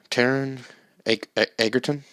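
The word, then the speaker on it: Taron Egerton: 2018 um starring taran is it taran taran edgarton so he pronounced his name i have it pulled up here taren eggerton and jamie foxx uh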